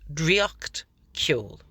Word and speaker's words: Draíocht Ceoil: One thing that's been happening, and I actually find this really wonderful in a way, the title is obviously in Irish. It's Dree-ocht Kyohl.